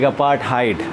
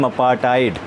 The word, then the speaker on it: apartheid: Don't spell it और pronunciate it like apartheid. That will be wrong. This H will be silent here my dear students, and the pronunciation, सही उच्चारण जो होगा उसका apartheid, not apartheid or apartheid.